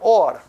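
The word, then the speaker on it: עור: It's pronounced the same though, or.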